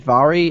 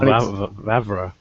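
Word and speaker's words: Vávra: how was it David vary I think his name is that his game that he's setting in medieval Europe doesn't have enough black people in it Daniel VRA is how you pronounce it if it did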